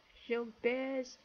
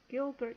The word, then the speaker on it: Gilbert: called sh Bear's syndrome sh bear syndrome um or if you pronounce it the American way or it will be Gilbert Syndrome Gilbert but she bear it's she'll bear the name of of the French doctor I supposed to discovered